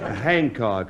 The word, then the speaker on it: Hancock: C ho c k the H is pronounced and anybody who says it Hain is ignorant Hancock address well actually I